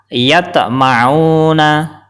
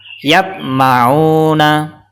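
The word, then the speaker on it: يَطْمَعُونَ: baca yang benar adalah yatmauna yatmauna cara baca yang salah yatmauna salah karena tidak dipantulkan contoh yang kedua cara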